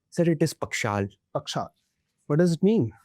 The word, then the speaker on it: Pakshal: is it, I pronounce it correctly? Sir, it is Pakshal.